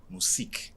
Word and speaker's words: Museeq: So the pronunciation is Museeq IQ.